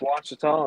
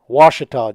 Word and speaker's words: Ouachita: Appreciate y'all having me on tonight and ready to give a little preview for Lake Ouachita and talk about what's going on down there.